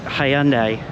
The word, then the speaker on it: Hyundai: know how it's pronounced I guess you're British it's Hyandai but here in America America we call it Hyundai this is one of